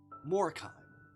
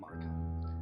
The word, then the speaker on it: Morkheim: Morkheim. Morkheim, not Markheim.